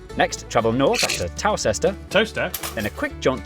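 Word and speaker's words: Towcester: mous hole mous hole next travel North after toester to then a quick jump to Gotham go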